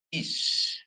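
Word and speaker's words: אִישׁ: Terus kemudian alef ya dikasih hirikyot ya. Hirikyot ya. Jadi bacanya dia is ya, karena ada shin di sini ya. Is ya. Jadi huruf senyap alef dengan konsonan hirik male atau hirik yod diakhiri dengan sin, dia dibaca dengan is.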